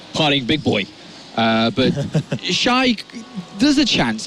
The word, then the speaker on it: XY: Now on stage though, we do have XY or Shy. What's the correct pronunciation? Shy. All right, so Shy.